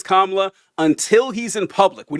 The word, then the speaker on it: Kamala: With Kamala Harris saying that the Republicans like to do this childish thing where they pretend that they don't know something.